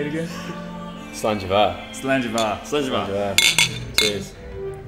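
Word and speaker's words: Slàinte mhath: Slanjava.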